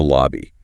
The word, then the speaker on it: lobby: Short a sound. Yeah. Again, hotter. Stop.